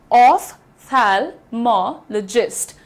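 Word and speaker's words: ophthalmologist: यह जो तुम्हारा पीएच होता है, इसको जब तुम फिजिक्स पढ़ते हो, तो यहां तो फ का साउंड दे देते हो। फिर यहां पर फ का साउंड क्यों नहीं देते हो? देना चाहिए।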